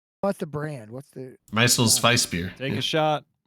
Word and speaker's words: Meisel's Weiss: is the Meisels Weiss. You're gonna have to spell that one for me.